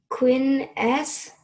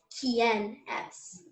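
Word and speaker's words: ¿Quién es?: Hola, Queen S. So the way you pronounce it is Kien S.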